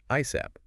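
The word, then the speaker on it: ASAP: Oh yeah, you can say it letter by letter, ASAT, or you can pronounce it as a word, ISAP.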